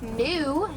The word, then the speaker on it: gnu: They also have a nickname that is pronounced GNU, G-N-U. That comes from the sound that they like to make.